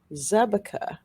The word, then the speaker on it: Zabka: he speaks czech fluently the czech translation of her surname pronounced zebekah is little frog okay